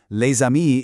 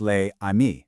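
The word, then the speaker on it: les amis: So, leami isn't pronounced lei. No, that s jumps over and it becomes one single fluid sound.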